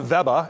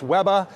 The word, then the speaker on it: Weber: up markets in germany in germany consumers pronounce the brand veba and they are convinced it's a german born and bred brand and we have that we have the same relationship in australia it's webba and they think it's